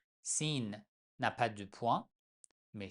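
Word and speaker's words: س: La lettre numéro 15, la lettre 16, c'est de Sin, son nom est Sin, mais on prononce tout simplement comme S.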